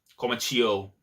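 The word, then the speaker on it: Komachiyo: Komachio. There you go, that's the name. You know what? My pronunciation in the morning, it sucks, so if there's something else, it is what it is.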